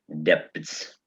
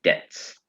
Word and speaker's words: debts: important to know that this b here in the middle of the word we don't pronounce.